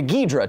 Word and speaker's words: Ghidorah: So let's hear just the correct pronunciation of Ghidorah here for a second. That sounds like a Ghidorah to me.